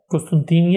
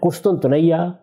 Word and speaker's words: قسطنطنیہ: فتح کر لے گا۔ قسطنطینیہ یعنی استنبول، قسطنطنیہ، قسطنطینیہ، یہ اس کے مختلف تلفظ ہیں جو ہمارے ہاں رائج ہے تلفظ۔ یہ استنبول ہے، اچھا،